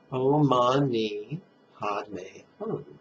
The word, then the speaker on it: Om Mani Padme Hum: On the in-breath, silently, mentally recite Om Mani Padme Hum. Emphasize the syllable may and the syllable me.